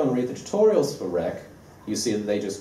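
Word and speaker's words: wreq: we're going to use a library called rec which is spelled with a w like this and it's an obvious play on the word request rec like most http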